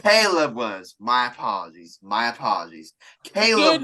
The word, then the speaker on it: Caleb Williams: draft either one of khib Williams or Drake Caleb say his name right why you keep calling him khib that's racist wait was it what's his name called Caleb not K Caleb Williams my apologies my apologies